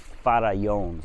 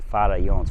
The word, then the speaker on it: Farallones: like, it's called the Farallones, okay? Farallones. For you North Americans, Farallone you would say, but Farallones. The 2 L's are silent.